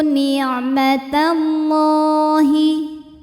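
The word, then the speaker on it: نِعْمَتَ اللَّهِ: Wadhkuru ni'matallahi. Lam pada lafaz Allah dibunyikan secara tafkhim sebab huruf sebelumnya berbaris fathah, maka dibacanya tebal. Ni'matallah.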